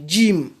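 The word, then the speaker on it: جيم: La lettre Jim, j'ai mis les D en blanc pour vous dire que ce n'est pas Jim. Donc en arabe, la lettre J n'existe pas. C'est Jim. Jim, comme dans le mot Jamila. Comme dans le mot Jamila ou Khadija.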